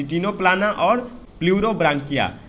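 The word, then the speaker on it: Ctenoplana: तो सी टीनो प्लान, सी टीनो प्लाना, टीनो प्लाना को हम लोग सी साइलेंट करके पढ़ते हैं, तो टीनो प्लाना, तो यहाँ पे सी टीनो प्लाना लिखा हुआ है।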